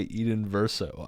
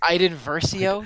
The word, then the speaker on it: Iden Versio: Dude, if I'm playing a Star Wars game, I don't want to play Eden Verso. I want to play like. Excuse me, it's pronounced Iden Versio.